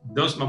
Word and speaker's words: Deutchman: Está con nosotros el doctor Garis Dutchman, ¿así? Dutchman, ¿verdad que sí, Pedro? Así que se pronuncia su apellido. Así es, Garis Dutchman.